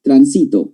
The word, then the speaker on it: transito: Porque cambia el acento. ¿Te acuerdas que dije guío, guió? Tránsito, transito.